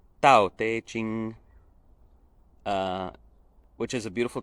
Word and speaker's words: Tao Te Ching: te ching and tantra sorry if my chinese pronunciation isn't perfect but it's something very close to tau teiching uh which is a